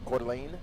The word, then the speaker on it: Coeur d'Alene: the lean last week is that how you pronounce that quarterly court elaine coeur d'alene yeah i'm a distance away from quarter lane